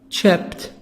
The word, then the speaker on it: chipped: pronounced it t why because the last sound is the sound of P like hope hoped not D but we read it